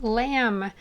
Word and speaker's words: lamb: And um notice lamb has a silent B.